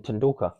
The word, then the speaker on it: Tendulkar: Sachin Tendulkar.